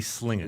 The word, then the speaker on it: Slangin': of a taco about it's spelled slanging but you say slinging you're a tricky guy